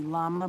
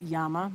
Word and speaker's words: llama: by english speakers the llama but it's yama basically is how it is pronounced in the Andes by cats with speakers